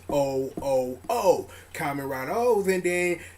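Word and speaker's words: OOO: The way that Deno is written the king of trains, and how O's is pronounced as O-O-O.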